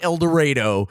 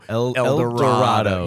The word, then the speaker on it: El Dorado: Not El Dorado. El Dorado.